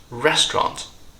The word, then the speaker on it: restaurant: to drop syllables here they shorten this word into two syllables restaurant last but not least